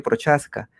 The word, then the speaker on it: Procházka: invitado el escritor procházka aunque creo que la pronunciación más bien exacta es prohass cariano y américa gira